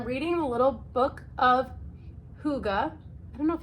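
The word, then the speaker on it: hygge: So I like to call it Hig because I like when things are pronounced how they look. That is not how you call it. It's Huga.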